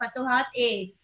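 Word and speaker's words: Futuhat-i: आई जब भी आता है उसको हम लोग ए प्रोनाउंस करते हैं, फतुहात ए।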